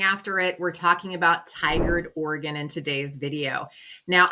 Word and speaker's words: Tigard: We have a lot of city names that are just quite frankly hard to pronounce. So don't feel bad if you get it wrong, but it's called Tigard to us locals.